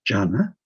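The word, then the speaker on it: jhana: word diana is sanskrit the pali is j in english is transcribed as j h a n a jana not the one that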